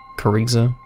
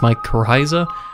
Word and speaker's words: Mycorrhiza: even pronouncing it right kariza because i'm going to presume it's my corrhiza but i think the h would be silent so to speak so